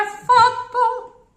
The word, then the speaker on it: fatto: È fatto. Double F. When you have the doublings, sneak the double one at the end of the preceding syllable.